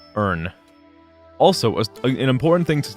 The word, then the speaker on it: Irn: the way I say earn also an important thing to take note of when I'm saying NN uh I'm saying it that way because the actual drink it is spelled as like irn Bru if we're talking about